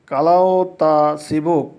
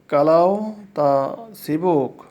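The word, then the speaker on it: kalau tak sibuk: যদি ব্যস্ত না থাকো, মালাউ হবে কালাও তা সিবুক, কালাও তা সিবুক। এখানে কালাও তাক সিবুক হবে, কিন্তু যখন আমরা উচ্চারণ করব তখন ইংলিশ শব্দের কেটা আমরা বাদ দিব।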